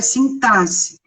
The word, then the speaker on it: sintaxe: O som da palavra é sintaxe.